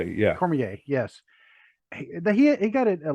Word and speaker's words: Cormier: and not having Daniel Cormier, how do you pronounce it? Cormier, yeah, Cormier, yes.